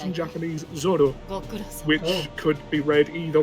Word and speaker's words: Zoro: In the manga, it's actually printed as zolo, but um it's pronounced in Japanese zoro, which could be read either way in English, but the Japanese don't distinguish between R and L sounds so much.